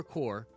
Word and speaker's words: corps: going to introduce the thor core not corpse everybody it's not pronounced corpse god you guys are such